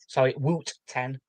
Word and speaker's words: Wooten: We have replaced Marcus Abad, Ed Wooten, Woot 10 in the scene as it's spelt like that.